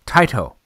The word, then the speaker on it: Taito: you'll hear the the the manufacturer says tight oh so tight oh is probably the correct pronunciation of that and Taito is is is you know but I still caught a toe so you know whatever